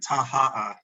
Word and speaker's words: Taha'a: we say Moorea, but it's actually Moorea and Taha'a.